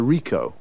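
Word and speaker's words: Ricoh: a camera what make and model it's a rico rico how do you spell that r-i-c-o-h okay got that now you say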